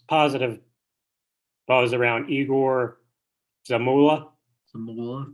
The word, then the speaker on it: Zamula: Zamula, right? I believe that's how you say his name.